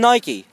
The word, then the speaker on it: Nike: It rhymes with Mikey and Nike. Yep. It rhymes. It sort of rhymes, but Nike is N-I-K-E.